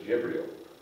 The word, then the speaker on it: Jibril: Quote, Muslims believe that the Holy Spirit is a title given to the angel Gabriel, pronounced in Arabic as Jibril.